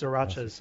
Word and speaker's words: sriracha: The sriracha sauce, which Can we just talk about sriracha sauce, please?